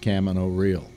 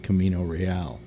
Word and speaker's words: Camino Real: he has a play called Camino Real it's pronounced cama no real not Camino Real and it is and it's an amazing abstract